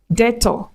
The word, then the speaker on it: debtor: have debt, indebted, subtle, debtor, doubt. So you do not pronounce the B in between. Do not say debt or indebted or subtle. No. You pronounce it without the B.